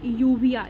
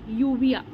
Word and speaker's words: uvea: कहता है कि पहले ये देख लेते हैं, आईटिस का मतलब इन्फ्लामेशन, ठीक है, और यहाँ पे यूवी का मतलब हुआ यूविया, UVEA, यूविया, ठीक है।